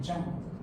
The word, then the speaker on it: Jean: 근데이 발음이 장이에요. 장.